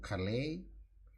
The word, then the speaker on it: Calais: about crossing over to calais and then i had to check the pronunciation and all along all those years i thought that was class so let's crossover triggers